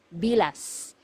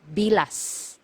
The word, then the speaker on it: bilas: one sister-in-law sister-in-law is bilas bilas so you have to be very careful with this one M hiala you have to pronounce the letter S at the end because if you mispronounce